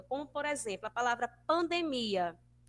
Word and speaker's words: pandemia: necessariamente na primeira sílaba, como, por exemplo, a palavra pandemia. Pandemia. Em espanhol, nós vamos ter pandemia. Pandemia, certo? Vai ficar lá na sílaba do meio da palavra, percebe?